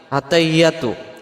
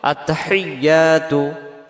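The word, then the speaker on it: التَّحِيَّاتُ: এই শব্দটাতে আমরা কি ভুল করে ফেলি আমরাদের উচ্চারণে আত্তাহিয়াতু আত্তাহিয়াতু আত্তাহিয়াতু হা জের হি ইয়ার পরে তাসজিদ আসছে এই তাসজিদটা সহ আদায় করার জন্য বলতে হবে আত্তাহি এমন আওয়াজ হবে আত্তাহিয়াতু আত্তাহিয়াতু আত্তাহিয়াতু ইয়া অক্ষরটা এক আলিফ টান লিল্লাহি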